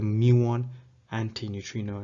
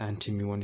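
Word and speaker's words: muon antineutrino: one and then here got to be careful pronouncing this is the muon anti-neutrino not the anti-mu1 issue that is not how you name this particle okay and again these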